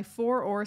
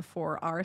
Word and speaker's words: Four R: And yes, I'm saying four-or because I'm from Ireland and that's more native to me to say it like that. I do understand that most people would call it a four-R solution, but we're here to